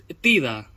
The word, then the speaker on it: Tidus: Tidus se pronuncia Tida y Auron, Aaron.